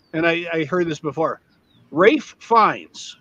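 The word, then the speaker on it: Ralph: It was going to be, and I heard this before, Rafe Fiennes. His name is spelled neither Rafe nor Fiennes.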